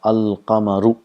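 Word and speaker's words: القمر: So in the rest of the words, the lam is pronounced, and the lam and the letter next to lam both are pronounced. If you see here, if we have a word qamarun, if we add al and qamar, it becomes al qamaru. The sound of lam is also produced. Al qamaru.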